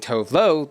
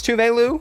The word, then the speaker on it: Tove Lo: because I a peasant had just been saying Tove Lo the entire time I listened to her music and I was even more gag to see Eve tweet this out saying that's how you pronounce touveilu and then to see tubelu quote tweet Eve